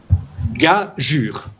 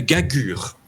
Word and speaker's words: gageure: Mais c'est pas du tout comme ça qu'il faut le lire. C'est gageure. Et là, maintenant, vous allez comprendre ce qu'est l'adscription. C'est que, comme le G est polysémique, c'est-à-dire que, selon le contexte, il peut se lire ge ou je. Devant un U, ça ferait gagure. Si vous voulez que ce soit gagure, vous allez adscrire une lettre muette.